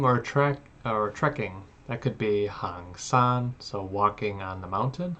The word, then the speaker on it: 行山: Oh, it is hang san.